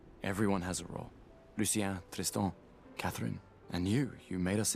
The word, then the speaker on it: Tristan: Lucien, Tristan, Catherine, and you made us into a... First and foremost, how you pronounce Tristan. Totally French.